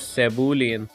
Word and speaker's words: Cebulian: He told me it is Cebulian.